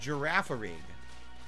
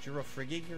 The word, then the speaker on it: Girafarig: It's pronounced Girafarig. Girafarig? What did I say it was? Girafrigig or something?